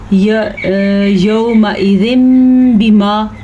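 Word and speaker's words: يَوْمَئِذٍ بِمَا: जब नून साकिन या तनवीन के बाद हर्फ बा आ जाए, ठीक है, जैसा कि अभी आपने पढ़ा, क्या पढ़ा आपने? यौमइज़िन बिमा।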